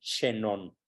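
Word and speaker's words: Chenon: mis tesis se llama emil xenón así tal como se pronuncia se escribe en Emilio chenón se pronuncia xenón un formidable autor francés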